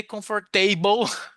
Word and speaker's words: comfortable: Comfortable. Só o table que é table, né? So, comfortable. All right. Vegetable, comfortable, no more. Vegetable, comfortable. Okay, so this is the correct pronunciation.